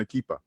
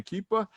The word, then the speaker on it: Akipa: know, if I say it wrong, Akipa. Yeah, that's correct. That's right, Akipa. He's running for, and now this is, I've heard people pronounce it differently, Haipa district councilman, but is it Haipa or is it Haipa?